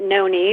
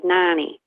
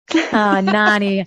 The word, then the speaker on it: Nonny: some people pronounce it Nonie but in the Midwest you know we have the short vowels nonny nonny I can't wait to